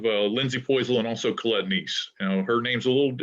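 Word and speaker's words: Nies: So we'll have Lindsay Poisel and also Colette Neese. Now, her name's a little unusual. It's N-I-E-S, but it's pronounced Neese.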